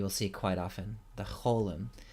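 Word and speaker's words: חוֹלֶם: see quite often the Holum this is the long o sound it's pronounced like the O in roll so we fill in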